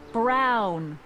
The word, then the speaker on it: Brown: That's Emmett Brown. Rhymes with clown, which I'm beginning to think you are.